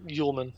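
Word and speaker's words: Uelmen: I remember you showed me that piece from Matt Uelman, if I'm pronouncing his last name correctly. Yeah, Uelman.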